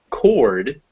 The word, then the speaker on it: cord: So, for example, cord is pronounced with that or sound, cord. But if we make it record, the o becomes a schwa because it's out of the stress position. So, cord, record.